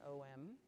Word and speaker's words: Om: so we sort of ohm and it's two really two three syllables a-u-m but we sort of sound sounded as an om second home is for